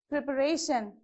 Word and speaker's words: preparation: Okay, next, preparation. Whenever there is a suffix like this, so the stress mark should be on the second syllable from the end.